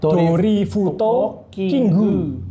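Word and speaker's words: ドリフトキング: kan Drift King Kan kalau dilafalkan pakai Jepang kan terlalu panjang dorifuto kingu ya terlalu panjang seperti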